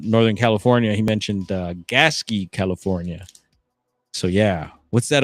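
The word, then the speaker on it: Gasquet: You spell it like gasket. Pronounced Gaski.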